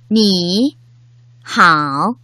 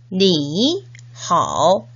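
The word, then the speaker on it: 你好: 그래서 중국인들도 이렇게 삼성이 연달아 오는 경우 앞에 삼성에서 반틈은 생략하고 뒷부분의 반틈만 발음합니다. 니하오 이렇게요. 원어민 선생님의 발음을 잘 듣고 따라 발음해 볼까요? 니하오, 니하오. 이렇게 앞에 삼성에서 반틈만 발음하니까 어떤 성조랑 발음이 비슷한가요? 올라가는 느낌으로 발음하니까 이성 맞나요? 네, 맞습니다. 그래서 다시 한번 강조하지만 삼성과 삼성이 만나면 앞에 삼성은 이성으로 발음됩니다.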